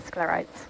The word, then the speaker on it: sclerites: color of scares am I pronouncing that correct scarites okay I was just about to say am I pronouncing that right no rock and what are sclerites uh sclerites are like little um can you